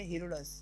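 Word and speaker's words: Herodotus: इसका प्रोनाउंसिएशन बहुत अलग अलग आता है, हीरोडोट्स, हेरोडस, पर आपकी मर्जी, आप कुछ भी बोल सकते हैं। बट राइट प्रोनाउंसिएशन हीरोडट्स है, क्योंकि टी उधर थोड़ा सा डी और थोड़ा सा साइलेंट हो जाएगा।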